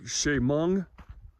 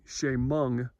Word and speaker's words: Chemung: your time but this mine is called the Shamong Shamong mine and uh it's pronounced c h e m u n g Shamong mine and um though back in the day